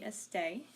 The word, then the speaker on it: esté: The usted form, again you would think it's like estoya or something, it would be estay. with an accent on the last E, again, because these are irregular.